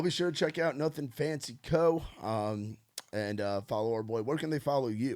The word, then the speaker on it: Nuthin Fancy: I have to spell it out because nothing is technically spelled wrong, and I still sell people that just see for like nuttin, like nothing. Like my grandpa would be like Nuthin Fancy, like nuttin honey. I'm like, but yeah, I just say Nuthin Fancy, but obviously it's spelled different.